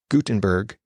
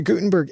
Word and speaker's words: Gutenberg: Gutenberg and I know sometimes I'm pronouncing the T harder than other times that's just sometimes me so you'll hear it both ways in this episode the Gutenberg editor can do so